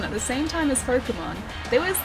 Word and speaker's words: Pokémon: Why does someone pronounce it Pokémon? It's even in the theme theme song. This is Pokemon.